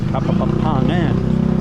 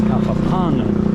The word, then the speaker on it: Kapampangan: I know it's somebody yelled at me because I was saying Kapampangan. Somebody said, drop the other P. It's Kapampangan.